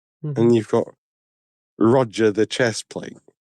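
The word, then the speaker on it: Rodger: Spelled with a D in the middle. R O D G E R. Roger.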